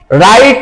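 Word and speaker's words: write: আমরা রাইট সব সময় লিখেছি বানান করে, ডাব্লিউ দিয়ে রাইট লিখেছি, কিন্তু ডাব্লিউর সাউন্ডই পাই না। পাই আমরা? এই জন্য এখানে ডাব্লিউটা হচ্ছে সাইলেন্ট, রাইট।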